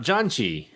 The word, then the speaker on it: Janchi: first we're talking about janji which i will clarify again is spelled j-a-n-c-h-i we are the janji